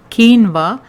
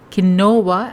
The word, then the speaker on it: quinoa: for gluten-free alternatives by the way quinoa is pronounced as quinoa and not keno WA as it is written I have already shared